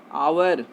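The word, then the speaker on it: hour: Next example है आवर, लिखा गया हावर, बट इसको हम लोग पढ़ते क्या है आवर, एच यहाँ भी साइलेंट है तो इसके पहले एन लगेगा।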